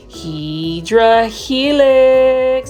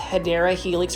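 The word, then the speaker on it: Hedera helix: for me to say HRA Helix sorry guys I had to throw that in there I know that it's actually pronounced hadera Helix for English ivy but that's really for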